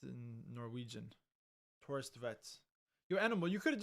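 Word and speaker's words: Thorstvedt: Oh, so it's the W is kind of like a V sounding, like Torstvedt. Yo. This just pronounced in Norwegian. Torstvedt.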